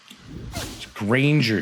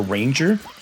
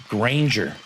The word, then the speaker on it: Granger: Her Granger too. Everybody I always hear everybody they don't pronounce the G properly.